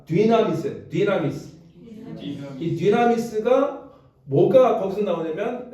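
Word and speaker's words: δύναμις: 했냐면 어 한번 따라해 봅시다 나미스 나 자 디나미스 디나미스이 디나미스 뭐가 거기서 나오냐면 여러분 다이나마이트 아시죠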